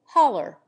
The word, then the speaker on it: holler: example to holler footnote the correct form of this appears to be haloo or holloa but in America it is pronounced hauler and usually represented in